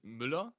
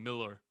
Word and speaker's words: Müller: It's like in Germany we pronounce it Müller, but it's Müller? like equal to the American Miller.